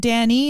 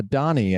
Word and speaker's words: Dani: it Danny is it Daniel it's uh Donnie actually Donnie okay yeah why does everything say that I do my best to confuse everybody okay it's pronounced Donnie but it's spelled D N I yeah okay okay because